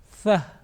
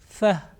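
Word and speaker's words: ث: To pronounce this letter correctly, it is important that we touch the tip of our tongue softly to the edges of our top 2 teeth, front 2 teeth, like Thaa, Thaa.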